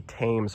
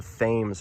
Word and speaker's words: Thames: American Woolen Company building, I called this the Tames River. you know, pronouncing it the way they do in London, the Tames River in London. Apparently, a lot of locals actually told me it's pronounced the Thames River.